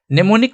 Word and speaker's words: mnemonic: नेमोनिक में ही देखो आप, एम क्या है, साइलेंट है, हम एन से शुरू कर रहे हैं, हमारा प्रोनाउंसिएशन कहां से